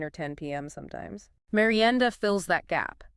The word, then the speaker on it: merienda: Yes, let's pronounce that one, merienda.